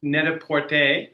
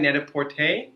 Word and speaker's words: Net-a-Porter: We work with Net-a-Porter. Am I saying it right? Net-a-Porter?